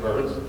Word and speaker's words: Byrns: Ain't it interesting that my last name is pronounced Burns?